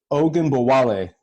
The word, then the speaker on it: Ogunbowale: Ogunbowale.